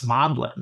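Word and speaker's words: Magdalen: about what if you didn't know how to pronounce Modlin.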